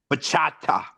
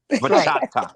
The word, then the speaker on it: bachata: Yes, you gotta emphasize the T. Bachata. That's right. Bachata, yeah.